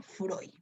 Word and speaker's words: Freud: pero recuerda que se escribe frío y se pronuncia freud si sufre woods o sismo freud es el